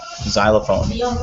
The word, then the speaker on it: xylophone: Like for example, xylophone, right? The X is silent.